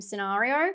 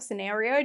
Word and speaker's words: scenario: watched this month was dream scenario or scenario depending on how you say it I was pleasantly surprised